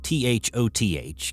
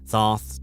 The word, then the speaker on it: Thoth: Thoth, spelled T-H-O-T-H, can be pronounced a variety of different ways. Thoth, Toth, Thoth, Toth.